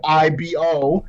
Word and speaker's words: Igbo: is spelled igbo right if you know anything about nigerian you know that gb is just pronounced just b right and it's ibo at that point it sounds like evo it looks like evo but the amount of